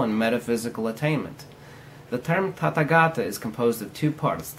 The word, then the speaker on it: Tathagata: term Tathagata, or as they often call it, Tathagata. The term Tathagata, or pronounced Tathagata, in the common nonsensical definition by ignorant modern so-called Buddhism is meant thus come one, or thus gone one.